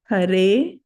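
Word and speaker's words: हरे: Hare, long vowel E. Hare, like that.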